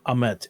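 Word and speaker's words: Ammit: give our best guesses um because they they pronounce it ahmet a-m-m-i-t that's how they pronounced it that that's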